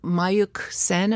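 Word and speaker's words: Mayukh Sen: Well, Mayuk Sen, am I pronouncing his?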